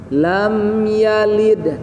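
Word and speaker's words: لَمْ يَلِدْ: Lam yalid. Nah, ayat ketiga lam sama mim sukun, tidak boleh ada jeda sehingga mantul. Lam. Nah, tidak boleh lam gitu ya. Lam yalid langsung, jangan lam yang gitu ya.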